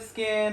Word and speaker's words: Skyn: And my business is called Skyn Culture Spa. Skin is spelled S-K-Y-N, culture.